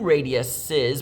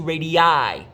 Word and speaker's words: radii: we're talking about two radiuses, we don't say radiuses, we say two radii.